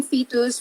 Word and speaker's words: fetus: a so again the uterus nourishes the developing fetus prior to birth so the uterus as a